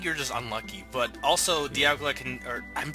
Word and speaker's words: Dialga: Dialga, because time dial. I figured that out like a few episodes ago, and I was saying it wrong. I was saying Dialga.